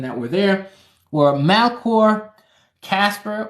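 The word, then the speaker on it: Caspar: were there were malcore Casper or otherwise pronounced Jasper and Balthazar so you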